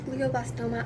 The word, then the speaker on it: glioblastoma: four stage four glioblastoma that is how that is what it's pronounced is pronounced glioblastoma I never ever heard